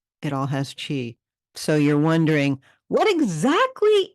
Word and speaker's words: qi: So let's talk about chi. Now, I spell it QI. That's how you spell it in traditional Chinese medicine. Language, if you're reading it, it's in pinyin.